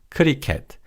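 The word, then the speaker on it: 크리켓: rugby which is lock and cricket which is kuriket.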